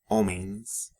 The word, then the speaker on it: homens: the spelling change, right, in Brazilian Portuguese, M and N are not really pronounced like their English counterparts in these kinds of cases, right, syllable final. Rather, what they do is they indicate that the preceding vowel is nasalized.